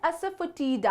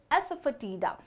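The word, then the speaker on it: asafoetida: English में कहते हैं अस फटी दा अस फटी दा अस फोटी दा नहीं एस फटी दा नेक्स्ट वन इज साबूदाना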